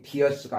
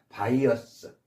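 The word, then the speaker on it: bias: 바이어스, 발음이 비어스가 아니라 바이어스, 편견, 바이어스.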